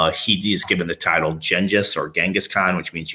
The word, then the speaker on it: Genghis: So there's an image in the west of Genghis, or Gengis, as you saw, listen to the video. It's a proper way to kind of pronounce it.